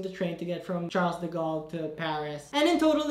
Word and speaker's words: Charles de Gaulle: in paris which is charles de gaulle i hope i'm pronouncing that right i think it's called shot de gaulle if you like really pronounce it like really french make sure you know